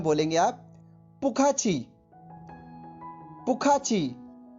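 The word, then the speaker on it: 不客气: यू are welcome, और Chinese में बोलेंगे आप पुखाची पुखाची पुखाची।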